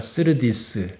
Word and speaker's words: 스르디스: 배가 스르디스, 우리 성경 스르디스라고 나와 있는데 슈르티스입니다. 원래 발음대로 하면 모래톱에 걸려 침몰할까 두려운 지경이었습니다.